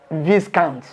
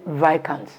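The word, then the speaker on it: viscount: he pronounced it's wrongly wrongly because if you pronounce v i s c o u n t as this count is wrong you say vikans just like just like a m-a-r-i-j-u-e-n-a if you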